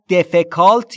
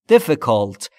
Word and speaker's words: difficult: دشوار سخت difficult یعنی خانمی به نام مشکله تلفظ درستش رو دقت کنید دوستان دوستان پس دفکالت یا دیفیکالت نیست دفالت ای هاش بین ای و ا مشکل مشکل مشکل